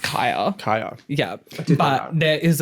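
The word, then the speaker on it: Khia: a Kia.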